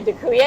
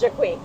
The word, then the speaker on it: Dziękuję: The first 2 years I would say Dziękuję because that's how it's spelled. And my boyfriend was like, Emily, you're pronouncing completely wrong. The guys were so polite though. Like they acted like it was right. So it's Dziękuję.